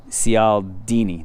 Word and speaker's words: Cialdini: Cialdini, that's how you say his name, I'm pretty sure.